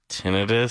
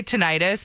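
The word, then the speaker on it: tinnitus: Tinidis. That's how it's actually supposed to be pronounced.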